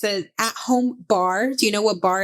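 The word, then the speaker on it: barre: my booty kicker is it's a at home bar do you know what bar is like to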